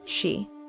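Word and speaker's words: 四: In Japanese culture, the number 4, or shi, is considered unlucky due to its pronunciation, which is similar to the word for death, shi.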